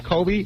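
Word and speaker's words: Cobie: But it was spelled C O B I E. That's KBY. No, it was Kobe. That's how he pronounced it.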